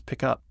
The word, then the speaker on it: pickup: If you have a phrasal verb, such as pick up, and you put the stress on the first word, it turns into a noun meaning truck, as in, he was driving a pickup truck.